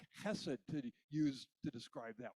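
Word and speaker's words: חסד: there is covenant loyalty hebrew speakers say something like hessed to use to describe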